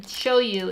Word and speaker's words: shoyu: Which isn't even how they say it in China, to be clear. But for some reason, shoyu is what they understood, which is the Japanese way to say it.